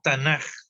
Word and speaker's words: Tanaj: Es Tanaj. ¿Por qué? Porque cuando ese es un problema del hebreo, digamos. Cuando la K de Ketubim está al final, se alarga, se prolonga y se pronuncia como J.